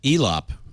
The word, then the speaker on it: Elop: I actually think is going to be uh elop rhymes with flop well that was for